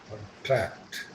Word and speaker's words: contract: If it is used as a verb, then it will be second syllable.